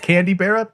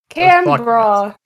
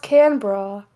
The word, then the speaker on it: Canberra: Candy Barra?